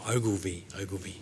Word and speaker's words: Ogilvie: Yeah, that last name there, it's a strange name, it's pronounced Ogilvie.